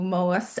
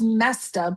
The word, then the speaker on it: Moesta: I Oh, Moesta. I want to say Moesta, but it's oh, not pronounced that yes, yes. way. I think it's just Mesta, but it's spelled Moesta. Yeah.